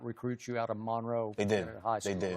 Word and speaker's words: Monroe: north central North Louisiana Monroe right that's how you say it Monroe cuz when I was there I thought no but they say Monroe right so when you were